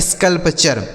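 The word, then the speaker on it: sculpture: Scalp और टी यू आर ई का उच्चारण चर। यह लिखा गया आपका स्कल्पचर।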